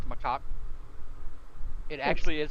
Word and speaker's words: macaque: pronounced macaque.